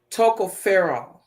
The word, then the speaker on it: tocopherol: that you have, it's called toco, tocopherol, right? Am I I, right? and we're gonna go with that. Yes. It's spelled CO.